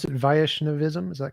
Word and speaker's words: Vaishnavism: So tell me some more about uh how do you pronounce it? Vaishnavism. Is that correct? Vishnavism.